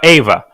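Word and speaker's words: Euwe: In Russian, we say Ava. Max Ava.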